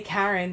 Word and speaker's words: Cairn: a new box called I say Karen but apparently I say it wrong how do you say Karen Karen okay here and here it sounds like Karen so it looks like